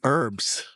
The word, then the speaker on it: herbs: The H is silent in herbs.